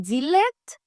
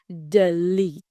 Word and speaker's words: delete: Et mot ça, ou tap di delete? No. Piga ou jam di delete encore. Mais li prononce delete.